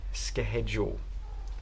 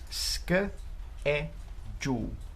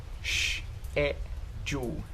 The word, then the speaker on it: schedule: This word is not sk head jul. No. It's pronounced schedule. Schedule. Sk e jul. Schedule. Or you can pronounce it like this. Schedule. Schedule. Sh e jul.